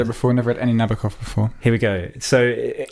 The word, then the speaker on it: Nabokov: a novel is uh Na- Nabokov, if we are using like the proper pronunciation. We can have that debate about whether it's Nabokov or Nabukov or whatever.